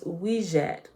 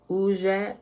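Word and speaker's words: wedjat: condition may be restored the name for the eye of heru may be pronounced as wijat uzhat or uchat meaning the whole or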